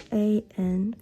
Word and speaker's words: 한: This is pronounced 'h' This is pronounced 'ah' This guy is pronounced 'n' Combining those 3 In sequence The word is h a n han In Korean 한 So it is pretty